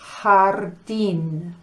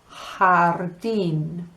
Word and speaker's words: jardín: You know, la letra J is pronounced H en español. So, garage is garaje and garden is jardín. Okay, can you please try to practice those two words? Garaje, jardín.